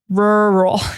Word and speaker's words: rural: But in case you would like to know, it is pronounced rural. Get that English R, rural. It's hard because it's a double R.